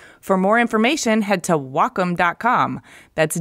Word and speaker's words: Wacom: No well calm no its Wacom pronounced wah like the Japanese word for harmony and come for computer the Wacom Cintiq 16